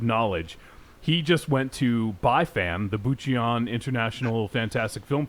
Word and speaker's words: BIFAN: he just went to BiFan, the Bucheon International Fantastic Film Festival. And Actually, it's pronounced BiFan, but that's okay. You're all hung up on the I BiFan.